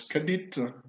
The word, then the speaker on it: Kedite: Donc en méroïtique, la sœur, par exemple, s'écrit Kedite, mais se prononce Kadit.